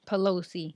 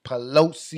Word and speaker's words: Pelosi: people like Nancy how you say her name Pelosi Pelosi it's up to them to do the right